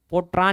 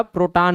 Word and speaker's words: प्रोटॉन: पोट्रॉन नहीं कहना है, और नहीं तो आप लोग ऐसे उच्चारण करते हो पोट्रॉन करके। क्लियर है? तो पोट्रॉन नहीं होगा, प्रोटॉन होगा।